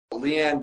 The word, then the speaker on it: Leann: All right, we have Leann here today. Did I pronounce that name correctly, by the way? Yes, you did. Thank you. All right, awesome. So Leann, just tell us a little bit about yourself.